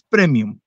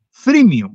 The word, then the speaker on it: freemium: no es tan buena no es Premium es freemium o sea te damos